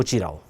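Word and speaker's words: mutirão: So this term m u t i r a o this is called as or pronounced as mu muchiro.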